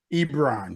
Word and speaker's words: Ebron: I want to make sure I'm pronouncing your name right. Ebron, yes.